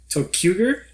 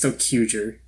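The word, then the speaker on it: ToQger: Tokuger. There's a Q in the middle of this word, but it's capitalized, and you're supposed to say Q and not pronounce it. All right. So I think it's Tokuger.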